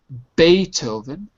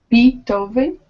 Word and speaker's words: Beethoven: Uh, and uh Oh, in English we'll say in English we're going to pronounce it a little differently. Beethoven. Beethoven.